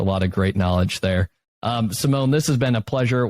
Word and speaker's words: Simon: It's Simone Hammer, and it's spelled like Simon. I have to always say that because I always get some people who say, hey, I can't find you, and I'm like, drop the E.